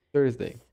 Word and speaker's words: Thursday: Com a ponta da língua entre os dentes, pronunciamos Thursday.